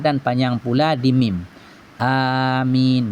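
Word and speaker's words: آمين: panjang pula di mim Amin jangan pendek di Amin jangan Amin Terus kalau Amin terus maknanya aman tapi kalau a panjang di A dan panjang di min min mati Min bertemu dengan ya mati bacanya Min Amin kabulkan Ya Allah artinya kalau Amin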